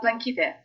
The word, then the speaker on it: Plankyte: Uh, blinky day.